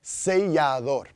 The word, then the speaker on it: sellador: And sealer is sellador. Sellador. And you can see that double L, again, like the La Jolla rule of pronunciation. It makes the Y sound.